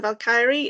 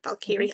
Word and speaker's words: Valkyrie: past life as a valky and valky I keep saying it wrong I keep pronouncing the ey too much know I will get